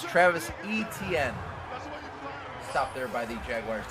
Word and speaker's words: Travis Etienne: position players, and I'm going to pronounce his name right. It is Travis Etienne. I think throughout this series I've called him 17 different names, but I believe I'm going to stick with this one.